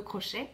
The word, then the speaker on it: crochet: celle qui est le crochet en anglais crochet ya il ne prononce pas le tc un crouch auteur ou